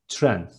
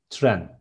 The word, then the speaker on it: tren: And train is tren, short syllable, tren.